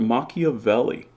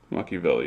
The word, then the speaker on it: Machiavelli: c both types okay what about machiavelli there's an h after that see and it says ka again so you can't say that ceh says cha in english machiavelli is an italian name